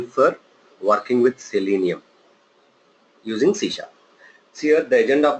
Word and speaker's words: C#: Generally, C# will be written as C#, okay, but pronounced as a C#.